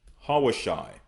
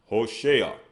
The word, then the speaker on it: Hoshea: So we have Hosea, which is Hawashai. Hawashai. But they will pronounce it as Hoshea.